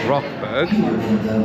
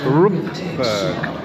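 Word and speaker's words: Rookburgh: section of the park I've been referring to that area that we've just left as rockberg Mrs H has just pointed out to me that is spelled r k so it's Rook as you can see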